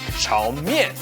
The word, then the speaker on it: 炒面: Today we're making chow mein, literally stir-fry noodles, which pronounced in Mandarin Chinese will sound more like chow mein.